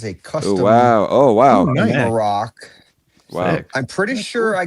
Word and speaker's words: Marrok: I'm so stoked it's got Marrok Tyler hope I pronounce that right.